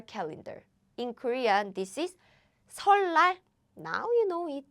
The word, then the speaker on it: 설날: In Korean, this is 설날. Now you know it. They meet, 리을 and 니을 meet, and 설날. To make the pronunciation easier, we use double L.